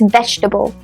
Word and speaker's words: vegetable: Nope, it's vegetable.